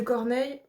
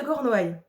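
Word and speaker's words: Cornouailles: de Corneil Corneil Corneil j'ai un gros doute sur le nom attendez je vérifie en fait du coup oui si j'ai prononcé très mal le nom ça c'était le corps Noï en même temps je cors c'est très particulier le comment l'orthographe et la prononciation pareil bref donc c'est des lutin de cornoail c'est bon du coup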